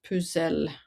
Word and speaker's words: pucelle: And so the French word for virgin is pucelle, which rhymes with Grenelle.